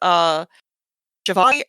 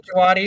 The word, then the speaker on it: Djawadi: So they had been with Javadi, I think is how he pronounces his name. Ramin Djawadi, who did the Game of Thrones.